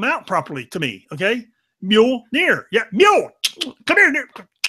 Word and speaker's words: Mjolnir: So Bean's like, well, it's pronounced Mjolnir.